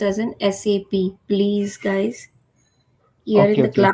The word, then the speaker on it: SAP: and it is not been pronounced as a SAP. Okay, it has been pronounced as an SAP.